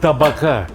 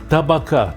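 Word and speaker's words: табака: Oui, oui, exactement « tabac », et non « tapak ». Oui, oui, exactement « tabaka », comme il faut prononcer ce plat en russe.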